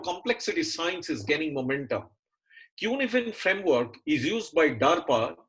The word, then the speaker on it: Cynefin: It's not Cynefin. This is a Welsh word from the UK. It's called Cynefin framework.